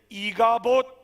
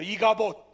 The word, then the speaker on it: 이가봇: 사람들이 죽어가는 비느하스의 아내를 위로하지만 비느하스의 아내는 그 아들의 이름을 이가봇, 하나님의 영광이 떠났다는 거예요. 이렇게 이름을 지었다는 것으로 오늘 본문은 그 내용을 우리에게 말씀해 주고 있어요. 이가봇, 한번 따라해 볼까요? 이가봇.